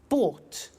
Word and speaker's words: bought: to the pronunciation by bought you notice that o-u-g-h-t is pronounced ought by bought come came